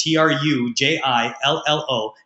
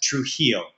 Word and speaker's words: Trujillo: It's going to take you some time to learn how to say it and pronounce it, but it's Trujillo. That's Trujillo.